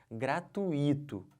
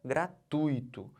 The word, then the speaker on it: gratuito: isso aqui gente gratuito não pode falar o quê gratuito se você falar gratuito vai sair caro para você vai sair cara você vai a questão da prova Tá bom então não falem gratuito O certo é gratuito eu tô fazendo o que eu tô botando toda essa sílaba aqui ó tui como sílaba tônica eu não posso separar